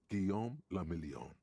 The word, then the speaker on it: Guillaume le Million: Guillaume le Million. What? If it doesn't rhyme, you're not pronouncing it right.